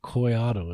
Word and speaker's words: Collado: C O L L A D O, but pronounced Coyato.